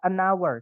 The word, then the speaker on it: hour: 1 jam itu eh bacanya bahasa Inggrisnya adalah anour teman-teman pakainya an ya walaupun tulisannya Ha awalnya ha h gitu ya tapi karena bacanya our awalnya adalah a bunyi vokal maka pakainya an I need an hour